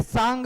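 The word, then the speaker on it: Tsang: इसे सांग भी कहा जाता है। टी साइलेंट रहता है, जहां भी पढ़ेंगे टी को साइलेंट लेके पढ़ेंगे, सांग कह सकते हैं या हैन सांग कह सकते हैं।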